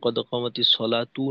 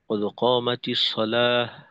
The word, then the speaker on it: قد قامت الصلاة: তো একামতে দেখা যায় এইখানেও অনেকে আহ, তায়ের হরকত উচ্চারণ করে, অর্থাৎ কদ কামাতিস সলাতু, কদ কামাতিস সলাহ। তো কদ কামাতিস সলাতু না বলে আমরা বলবো কদ কামাতিস সলাহ, কদ কামাতিস সলাহ, এভাবে।